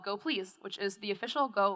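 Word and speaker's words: gopls: And yes, it is pronounced Goplease, not Goples.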